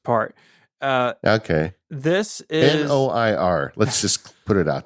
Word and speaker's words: noir: that do this uh the one that I use is called Noir new is how you say it inir I would say Noir like film Noir boys you know we call it new here in the South yeah it's like manure without the the first part uh